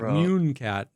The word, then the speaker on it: Mooncat: Yeah, she I heard her luckily pronounce it. Otherwise, I wouldn't have been sure. But yeah, she just says Mooncat.